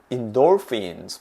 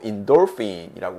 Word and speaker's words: endorphin: 그러면 이런 의도적인 웃음이 lots of endorphins, 맞아요. 강세는 여기 있죠. 그래서 endorphin 하시면 안 되고 endorphin이라고 발음해 주시는 거.